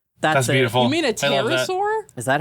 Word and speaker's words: pterosaur: with that, it's a petasaur swoop. That's beautiful. You mean a pterosaur? Is that how you pronounce that? Yeah, you don't pronounce the P.